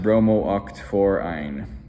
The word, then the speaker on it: bromooct-4-yne: Now, I know this looks weird with two Os, looks like bromu, but still pronounce it bromooct-4-yne.